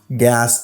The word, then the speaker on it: gas: Il écrit à S, il prononce comme gas. Il pas prononcé comme Z.